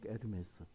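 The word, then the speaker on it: Hermès: 거기 프랑스로서 H 앞에가 묵음이 돼요. 그래 에르메스.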